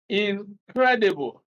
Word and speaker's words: incredible: Then incredible. Credible is a word. Then the prefix here is in. After in, then stress is on the syllable that follows.